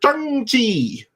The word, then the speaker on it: Shang-Chi: The same is also true for Shang-Chi, which is apparently how you pronounce that.